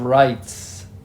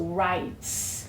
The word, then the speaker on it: rights: Okay, so it is called the Bill of Rights. The Bill of Rights. It's the first 10 amendments to the Constitution. Yeah, so the S needs to be pronounced. So rights.